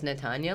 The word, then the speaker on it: Natanya: So I'll be like, just say like this, Natanya, lasagna.